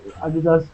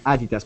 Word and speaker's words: Adidas: Abdullah could you say how you say in German Adidas because I'm saying the British way we say Adidas how do you say it in German Adidas Adidas okay it's pretty name